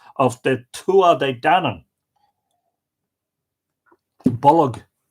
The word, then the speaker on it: Bolg: Bolg is a two-syllable word. It is related to the word bulge in English.